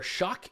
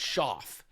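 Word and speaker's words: Shough: I think Tyler Shuck. Are we going with Shuck? Is that his last name? I think it's Schaff.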